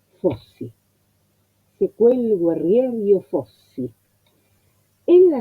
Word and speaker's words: fossi: Primero el acento porque la primera sílaba que aparece es la sílaba tónica. La O tiene el acento agudo, por lo tanto es cerrada. Y después copio lo que veo. Doble S, fossi.